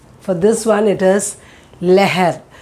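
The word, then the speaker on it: लहर: The first one, for this one it is leher. See the pronunciation, how I've done. It is leher, leher. When her comes, the previous word will be as sound.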